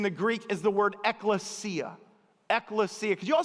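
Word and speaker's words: ἐκκλησία: Eklesia. You kind of got to get in your throat to say it right.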